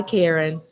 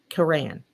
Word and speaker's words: Karan: Hi, Karen. And do I pronounce that right? It's Karan.